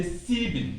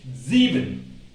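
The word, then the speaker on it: sieben: the umlaut so the s is pronounced z don't say sebin don't say c c bit say zeben when you see this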